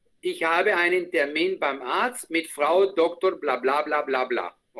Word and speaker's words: Arzt: La TZ es un poquito difícil. La ZT es un poquito difícil. El resto, perfecto, perfecto. Que se escuche más la RZT, que es un... Es una catástrofe. Pronunciar esa vaina es una catástrofe. Es como Guantánamo. Ese es el Guantánamo en la pronunciación, ¿no? Entonces se dice Arzt.